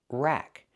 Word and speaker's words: rack: Pronunciation, rack. Use the short A sound like black cat.